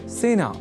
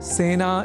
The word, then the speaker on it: सेना: एक शब्द है सेना जिसका प्रयोग सेना इस रूप में ही करना चाहिए क्योंकि सेना में स इस अक्षर के बाद ए इस अक्षर का प्रयोग हुआ है। अतः सेना इस शब्द के उच्चारण में ए इस स्वर वर्ण या अक्षर का ही प्रयोग किया जाना चाहिए ना कि ऐ का।